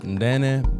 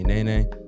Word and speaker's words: Nene: I'm your host, Nene, pronounced Ndene, but most people call me Nene.